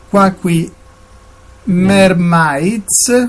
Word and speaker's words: Quacky Mermaids: Quacky Mermaids, lo ripeto, Quacky con la K, entrambi i suoni che sembrano della CH ma in realtà sono della K, Quacky Mermaids, l'ho detto con la pronuncia italiana, affinché possiate mettervi in